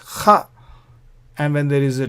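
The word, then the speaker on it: ך: This final kaf is pronounced kha, as though there is no Dagesh.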